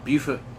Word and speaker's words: Beaufort: We are in Beaufort, South Carolina, spelled the same as Beaufort, North Carolina, but it's pronounced differently. Beaufort, South Carolina.